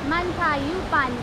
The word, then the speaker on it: Mantayupan: And how do you pronounce that, Richie? Mantayupan Falls.